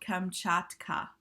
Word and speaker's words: Kamchatka: volcanoes and this is called come chat kheh it's on page 330 and it's spelled ka m CH 80 like chat and then ka okay and you have